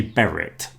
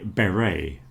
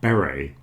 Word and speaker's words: beret: All of these words in front of you end in a T and all of them usually have a silent T.